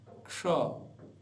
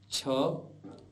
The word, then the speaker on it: क्ष: इसीलिए यह बनता है इसका उच्चारण होता है क्ष इसको कई प्रकार से गलत ढंग से बोला जाता है जैसे अक्षय अक्षय छ ऐसे नहीं बोलना है अपितु इसको ठीक ठीक बोलना है क्ष क्ष उदाहरण के लिए बोल